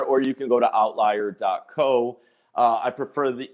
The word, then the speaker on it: OVTLIER: show is not misspelled that is how it's spelled but it's pronounced outlier okay someone's like you